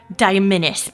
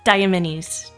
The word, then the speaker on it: Diamenies: at the plural and you're thinking diamenis because penis diamenis diamenis. No, it's diamenies diamenies. I'm not that messed up. I'm not that messed up that I would mess up the pronunciation to rhyme with penis.